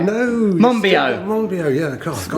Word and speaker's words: Monbiot: I'm here with George Monbiot. Have I said it right? No. Monbiot.